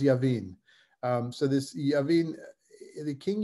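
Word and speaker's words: Jabin: this fellow named king javin i think sometimes i wrote it with a j sometimes with a y but it um i i i it's it's with a j but it's pronounced yavin um so this the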